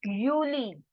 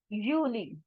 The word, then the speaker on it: Juli: is called as this word can you try pronouncing this yourself it is juli uni juli uni juli okay we have done a also